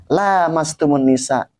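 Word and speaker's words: لامستم النساء: Lamastumunisa. Kita membacanya lamastumunisa.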